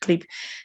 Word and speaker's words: QLIP: that the the name of the brand it's clip okay so even though a lot of i love um us usually make that mistake it's pronounced clip the idea is like the q is supposed